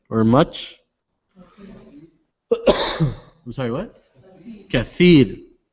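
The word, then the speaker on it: كثير: Kathir. When we say tha, your tongue comes out in between your teeth. Kathir.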